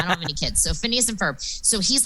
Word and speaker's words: Phineas and Ferb: phineas and i'm going to say it wrong phineas and ferb right yeah no you got it because you